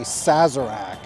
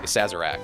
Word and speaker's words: Sazerac: the invitation you will not regret it a sazerac sazera sac sazerac sazerac it's a great drink it's also a great